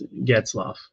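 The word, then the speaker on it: Getzlaf: Am I pronouncing that correctly? And Ryan Getzloff. Yeah, it's Getzloff.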